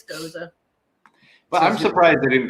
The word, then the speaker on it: Gose: called goza so and I also I know the pronunciation of it is goza like historically um that's such a weird pronunciation because I have heard people call it a goes um I've heard people